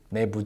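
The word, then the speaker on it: 너무: He was saying this, but he didn't pronounce this word with a long vowel. He actually said it with a short vowel and put this together really quickly. Nae moo chom bwa.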